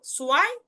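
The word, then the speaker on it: zwei: সো এটার উচ্চারণটা কিন্তু সোয়াই, সোয়াই, সোয়াই, অর্থাৎ একটু ভ থাকলেও ভটাকে আমরা পূর্ণাঙ্গ ভাবে উচ্চারণ করব না, যার কারণে আপনি সোয়াইটাই উচ্চারণ করবেন, সোয়াই। অর্থাৎ সেট ডাব্লু, অর্থাৎ সেট এবং ভে যদি দেখেন তখন তার উচ্চারণটা সো আকারে উচ্চারণ করবেন, কোনো প্রবলেম নেই, সোয়াই।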